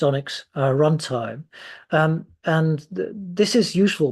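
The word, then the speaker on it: ONNX: framework which uses the this I think it's pronounced Onyx runtime, and this is useful because this is a framework that I think is used generally in machine learning.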